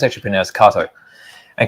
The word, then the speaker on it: Kato: say k here but it's actually proun as Kato and K is a very famous brand of